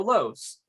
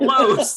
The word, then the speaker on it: LOS: you're like you know lows but it's not loads it's like an acronym for the liquidation outlet i